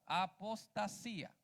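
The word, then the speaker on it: ἀποστασία: Grey del griego y se pronuncia igual apostasía Qué significa hermano decepción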